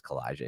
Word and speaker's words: Calijah: And I hope I pronounced that right, but it is Calijah. You did, yes. Nice. Yes, you pronounced that perfectly.